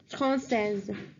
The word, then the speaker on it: française: And now I'm telling you the pronunciation for each one of them. So please listen carefully. For French, it's français, française.